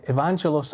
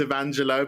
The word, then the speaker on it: Evangelos: The S is silent, so it's Evangelo, but you did really well.